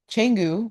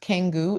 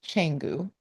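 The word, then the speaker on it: Canggu: It's not Kangu, it's Changu. And in the Bahasa Indonesia language, um, C is cha most of the time.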